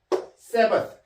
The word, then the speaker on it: Sabbath: Sabbath. 이건 선생님이 음가 만든 거예요. 음가를. 왜냐하면 th 발음은 이 번데기 발음 있죠?